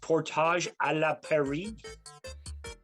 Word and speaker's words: Portage la Prairie: There is a Western riding that's like half, like it's pronounced Portage à la Prairie.